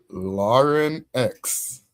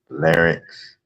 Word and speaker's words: larynx: It's Lauren X. Or Larynx. Yes. Some people in America put a they like to larynx. At least that's what most of the professors taught me how to say it.